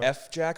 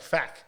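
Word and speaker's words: FJAAK: who are those guys f jack or how do you say i think you know i think it's i think yeah i think i was saying f jack but apparently it's like faq okay and i was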